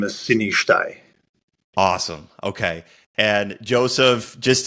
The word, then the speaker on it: Sinishtaj: It's Joseph, and then my last name is Sinishtaj.